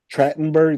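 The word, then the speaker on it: Trachtenberg: passed away Rec Michelle tratenberg tratenberg that's how you pronounce it yeah were you were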